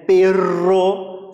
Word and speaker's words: perro: E a pronúncia, é bem interessante saber, que a pronúncia desse doble R, esses dois R's, sempre vai ser mais forte, né, como se fosse tremido mesmo, esse prr, tá, ó, perro, sussurrar, né.